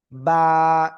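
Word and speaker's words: ب: এই যে দুই ঠোঁট আছে না, দুই ঠোঁটের ভিজা অংশ থেকে একালিপ টানিয়ে উচ্চারণ করতে হবে এই অক্ষরটা। বা, একালিপ টানিয়া বা।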